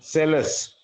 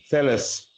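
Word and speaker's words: Psellus: So magic, accordingly to Cellus, the spelling of the name is P-S-E-L-L-U-S. P-S-E-L-L-U-S. But P is silent, we are told.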